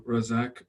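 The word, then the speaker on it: Razzaque: like people to to pronounce mine correctly right rezig yeah rozak yeah thank you yeah thank you sir thank you well thank you for inviting me to say my name is razak i'm a psychiatrist based in in london england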